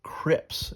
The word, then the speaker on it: CRP: handled by these uh they're called CRPS or Crips is what the way they tell you to pronounce it here if you look